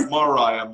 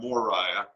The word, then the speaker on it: Moriah: yeah right right right not morah Moriah right and I pronounced